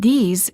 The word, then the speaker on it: these: and these the same the word this is singular and is pronounced with the short e sound and a the word these is plural and is pronounced with a long vowel e and a z sound this these i like